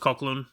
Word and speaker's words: Coughlan: The only other actor confirmed to be part of the special is guest star Nicola Coughlan. It's pronounced Coughlan.